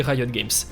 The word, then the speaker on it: Riot Games: Car si depuis le début de cette vidéo je nomme ce studio Riot Games, en réalité la prononciation exacte aurait plutôt été Riot Games.